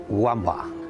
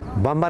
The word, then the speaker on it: Wamba: vuelta ciclista españa pues siempre lo pronunciaban wamba a pesar de que y recalca que es bambú que lo vamos a